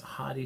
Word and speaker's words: Hadi: I mentioned is that Hardy are that pronounced Heidi Chopin Iranian body for